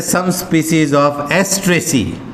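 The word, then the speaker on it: Asteraceae: Sunflower family भी बोल सकते हैं इसको, एस्ट्रेसी। इसका हिंदी वाली किताब में देखना एस्ट्रेसिया ऐसे छपा हुआ, एस्ट्रेसिया, एस्ट्रेसिया।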